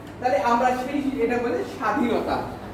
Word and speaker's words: স্বাধীনতা: এটা একটু ক্লিয়ার যে শুরুতে বফলা আসলে উচ্চারণ হবে না। তাহলে আমরা সেই এটা বলে স্বাধীনতা।